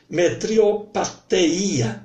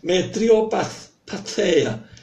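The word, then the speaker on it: metriopatheia: Metriopateia. Pateia, né? Que esse T aqui é um teta, não é um T mudo, né? Como tabela, the end, né? Metriopateia, né? O acento está aí no iota, né?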